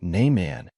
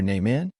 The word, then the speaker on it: Nieman: He pronounced it Nieman, as most people did. In our family, we pronounced it so it sounded like New York man.